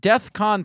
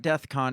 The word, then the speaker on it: DEFCON: saying he was going Defcon 3 on Jewish people what does that mean I don't know first of all it's not death Khan It's Defcon right so the fact that